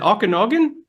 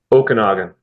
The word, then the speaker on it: Okanagan: nerd Earthworks so if you're in is it Okanogan did I say it right Okanagan Okanagan if you're out there and you need